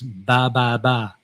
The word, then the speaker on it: Ba Ba Ba: But the Vietnamese pronunciation is ba ba ba.